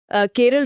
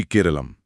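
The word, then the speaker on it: കേരളം: जी केरलम स्पष्ट कर दूं कि केरला मुख्य रूप से एक अंग्रेजी उच्चारण है। जबकि केरलम राज्य की स्थानीय मलयालम पहचान को दर्शाता है।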